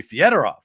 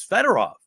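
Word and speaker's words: Fedorov: Wings at the time Sergey federov because that's the proper Russian pronunciation but he had told everyone that it was feder off and you know so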